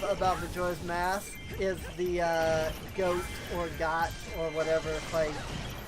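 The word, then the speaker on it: Goht: I mean, it makes sense, but I've never thought of it as goat. Because G-O-H-T. And I guess that is goat. O-H is O. But, I don't know. I've always thought it was got.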